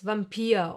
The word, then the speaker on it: Vampir: But sometimes, just sometimes, it will be pronounced like the German W. Remember? V. Like in the words Vampir or Vulkan.